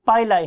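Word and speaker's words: pili: बहुत से लोग इसे पिली भी बोलते हैं, लेकिन मेरियम वेबस्टर डिक्शनरी के प्रोनाउंसिएशन के मुताबिक ये पाइलाई है, राइट।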